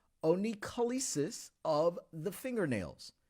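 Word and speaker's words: onycholysis: He says some onycholapa? Like, what the heck is that? No, oncholysis. All right. And you may have seen it or heard it said a different way, but oncholysis or oncholysis, it's spelled oncholysis of the fingernails.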